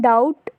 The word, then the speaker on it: doubt: और डाउट में भी जो बी है वो हमेशा साइलेंट होता है, लाइक DOUBT स्पेलिंग ये होती है डाउट की, लेकिन हम क्या बोलते हैं डाउट, तो जो बी साइलेंट रहता है इसमें।